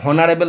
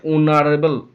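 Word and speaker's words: honorable: Next number 8, হি is dash অনারেবল ম্যান, হি ইজ অ্যান অনারেবল ম্যান, অনারেবল, এই উচ্চারণটা হনারেবল নয়, এই উচ্চারণটা হচ্ছে অনারেবল, অনারেবল।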